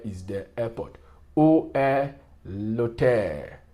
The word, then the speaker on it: hôtel: Où est l'hôtel? See, l'hôtel, vowel preceded by a consonant. You see, the H is silent. L'hôtel, not the hotel.